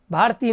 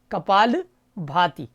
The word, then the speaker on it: कपालभाति: ये कपालभाति नहीं, कपालभाति है। अक्सर लोग बोलते हैं कपालभाति, भारती नहीं, कपालभाति।